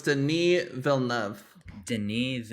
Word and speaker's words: Denis: it's the knee Villeneuve Denise Denise not Dennis yeah damn oh my